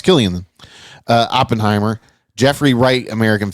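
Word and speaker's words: Cillian: see I thought it was kilan for the longest time then I thought I heard somebody say chillian and I'm pretty sure even he's I think I saw a Tik Tok where even he pronounced his name k okay well it's Killian uh Oppenheimer Jeffrey Wright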